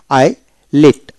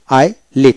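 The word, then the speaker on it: islet: হবে না তারপর হল আই লিট আই লিট এখানে এস হবে না আইলি তারপর হল এভাবে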